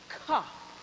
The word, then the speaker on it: Ka: Ka. That's how you pronounced it.